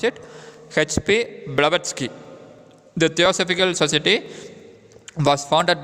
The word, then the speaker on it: Blavatsky: So pronounce it H.P. Blavatsky.